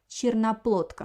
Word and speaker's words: черноплодка: So the first letter O doesn't have an accent. I pronounce it like A. Again, черноплодка. The first letter E, I pronounce like E because it also have an accent. Doesn't have an accent. Черноплодка. But the third vowel is O is stressed. That's why I pronounce very good O.